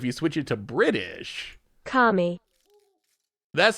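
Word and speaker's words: kami: happy here's eight second here's an eight second commie call that kind of sounds like i guess it's a little ah a little more ah e a little more eye than than amy all right um here's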